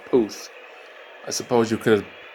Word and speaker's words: Puth: Yes, his name is pronounced Puth. I suppose you could have thought it was pronounced Puff, but Don is right.